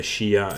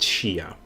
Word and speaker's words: Shia: It's my native tongue is Dutch, and in Dutch it is pronounced Shia, which is apparently the same as in English.